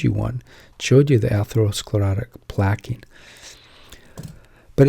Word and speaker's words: atherosclerosis: had enough of it so here it is atherosclerosis pronounced path hath her o sclerosis atherosclerosis Carleton which is a nice he's a good